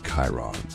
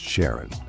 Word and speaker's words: Charon: the most mysterious one Chiron also pronounced Sharon so you can pronounce it however you like I'm going to go with Sharon now Sharon hey is